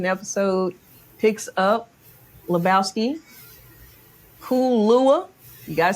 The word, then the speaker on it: Kool-Luah: Cool lua. You got to say it right. You got to put the cool in it. Got you got to pause in between. Cool lua.